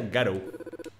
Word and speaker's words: Garou: Creo que en tu nombre se pronuncia Garou. Encantado conocerte, Garou.